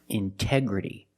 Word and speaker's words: integrity: So I have to pronounce a T. I cannot say in endance. No, it's intense. Or words like intensive, intoxicated. We have the stress after the NT. We pronounce the T like a purity. T. Release the sound. Intoxicated. Integrity. The stress is after the NT in these words. So we pronounce a T as a pure T.